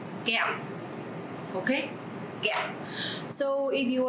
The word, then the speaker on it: kẹo: Okay, so this word have the tone mark dấu nặng. Because of that, you have to pronounce very strong. Kẹo.